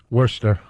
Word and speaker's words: Worcester: right say it again Worster yeah all right they like to call Worcester up there oh Worcester wer take the r out the r is silent you well take the